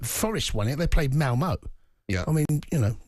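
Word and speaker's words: Malmö: They played Malmo. Yeah. I mean, you know. Malmo, not Malmo. They played Malmo. Malmo. You go low for the second part of that syllable.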